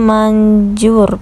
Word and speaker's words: Mandjoer: ya guys di maps itu tulisannya manjur pakai ejaan lama ya guys ya ada djnya untuk rasa mie ayamnya